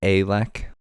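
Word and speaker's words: Ehlek: Just so you know, it's actually pronounced Alec. Alec? Like A as in Canadian.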